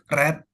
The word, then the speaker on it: read: Walaupun tulisannya sama tapi bacanya beda. Kenapa bisa aturannya seperti itu? Jadi eh special for the word read. If you want to say verb 2 dan verb 3-nya read red read red read red red red.